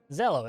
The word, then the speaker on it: Zello: Zello, it rhymes with yellow.